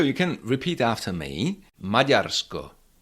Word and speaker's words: Maďarsko: Majarco. Majarco that is D with heart check.